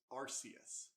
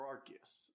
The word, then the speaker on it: Arceus: library so today we are reviewing pokemon legends arceus or arcgis i pronounce both ways so you know this is